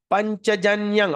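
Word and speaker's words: पाञ्चजन्यं: Panchajanyang. Okay. This is the M that I said just now. When there's an M dot, we're going to pronounce ing.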